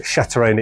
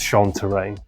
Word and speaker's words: Chantraine: to control the game you'll note that I was mispronouncing in the last two episodes I think think I was saying uh Shin it's sha terrain as before we'll have